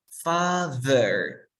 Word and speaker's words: father: Father. No es un father. Father no es una D. ¿Cómo hago ese sonido? Pon tu lengua entre los dientes.